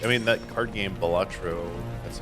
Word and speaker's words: Balatro: And then possibly, I mean, that card game Balatro. That's how you pronounce it.